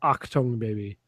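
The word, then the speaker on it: Achtung Baby: Also, it's pronounced Octung Baby.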